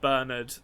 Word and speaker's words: Bernard: the arnold reveal we get confirmation that it's pronounced bernard it's just everything that we could possibly want